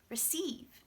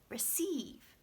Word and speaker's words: receive: that part has to have a very clear vowel receive this part does not have to have a clear vowel so it actually stops sounding like rhe and it sounds like this schwa schwa pronounce me ruff ruff receive repeat after me receive yeah nice yeah it's